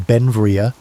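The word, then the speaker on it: Beinn Bhreagh: Pronounced Benvria, Bell became an American citizen in 1882, but his name, meaning beautiful mountain in Scottish Gaelic, showed his Scottish heritage.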